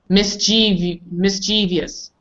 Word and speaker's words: mischievous: People say usually mischievous. Mischievous. How do we say this correctly, Bonnie? Mischievous. Mischievous. Dimitri? Mischievous. Miguel? Mischievous. Yes. What is it, mischievous? I'll explain. Now, pronounce it the correct term. Ah, I see. It's вредный. It's almost the same, except we really don't take a break. Mischievous. Where the miss is. People say mischievous.